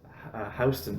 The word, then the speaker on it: Houston: Well, and then the thing too is in New York City, it's Houston Street, but the street is spelled Houston.